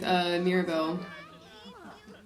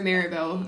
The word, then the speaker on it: Maribel: And she has no idea that he was just flirting with Mirabelle. Or Maribel. I've been saying her name wrong.